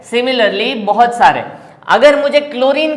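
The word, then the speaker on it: chlorine: तो यहां पे फॉर एग्जांपल अगर हम क्लोरीन में Cl बोलते हैं, H साइलेंट हो जाता है, इसीलिए हमने Cl लिया,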